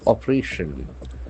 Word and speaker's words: operation: so operation operation the accent falls on the third syllable the fact of operating